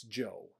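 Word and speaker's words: Zhou: h o u that's Joe so if you ever see Z houu that is Joe okay that's how it's pronounced at Le it sounds more like Joe the Joe dynasty was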